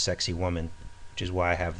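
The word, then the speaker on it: Sacsayhuamán: of course sexy woman sounds like it's pronounced sexy woman which is why I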